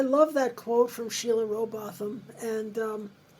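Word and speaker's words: Rowbotham: that you offer in your book from Sheila roboam is that how I say her name yes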